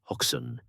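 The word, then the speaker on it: Hoxne: The exact location is often debated, but tradition places it at Hawken, pronounced Hawken, in Suffukk.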